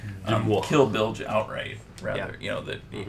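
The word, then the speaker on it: Demoux: But what Sanderson said on his kind of annotations of the chapters, originally he had Kelsier through Demois, that's how you say his name, Demois.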